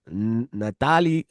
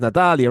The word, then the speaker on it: Natalia: And then Vivian Araujo coming off a unanimous decision loss to Natalie or Natalie Silva. My fault. My fault. No, no, I'm trying. Natalia Silva. It's Natalia, right?